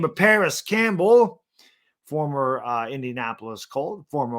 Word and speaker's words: Parris: Perry. It's not really the way you say his name, but Parris Campbell, former Indianapolis Colt,